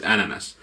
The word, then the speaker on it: NNS: In Finnish we pronounce it ananas.